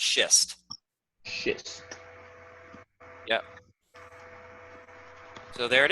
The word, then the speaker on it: schist: Yeah, it's pronounced schist.